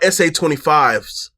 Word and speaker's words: SA25: I use SAS25M, or shoot, I'm saying it wrong. They're called SA25s, and this is a